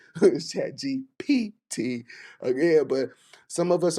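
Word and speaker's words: ChatGPT: I know a lot of us are using Chat GPT, and some of us can't say it right. Someone say Chat GBT, Chat GPT again, but some of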